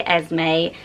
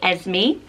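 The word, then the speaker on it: Esmé: So actually, I say Asme. Some people say Esme as well.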